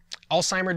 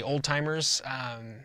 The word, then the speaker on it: Alzheimer's: disease and it's onset Alzheimer's disease I've heard people mispronounce as they say old-timers it's Alzheimer's and it's named after a doctor that researched it for many years Alzheimer's disease here is